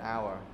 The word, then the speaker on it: hour: All those are vowels, and we use with H when H is not pronounced, like an hour.